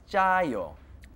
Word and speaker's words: 짜요: It's like a J sound, but it is two J's. So it's 짜요.